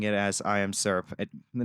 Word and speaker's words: IAMSVRP: Um, like he started pronouncing it as I am syrup.